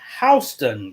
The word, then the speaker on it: Houston: they live in is it's spelled like Houston County but it's actually hon County they're the Bears so